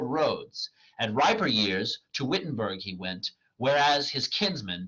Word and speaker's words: Wittenberg: goes to Wittenberg uh Wittenberg I believe would be the proper pronunciation A lot of people don't know that W is pronounced as a v in German uh but he went